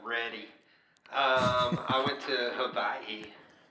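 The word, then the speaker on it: Hawaiʻi: Um, I went to Hawaii. Hawaii with the family. That was good times. Yeah, the locals they don't have a W sound.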